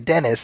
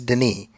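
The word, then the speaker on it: Denis: Because I was calling I was calling him I was calling him Dennis and it's Deni.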